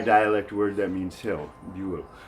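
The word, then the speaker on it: Bühl: Buell. Now when we put it in American English, we lose the two dots on the U and the second syllable, and it becomes bull to Americans.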